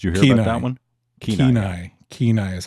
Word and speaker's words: Kenai: Kenai.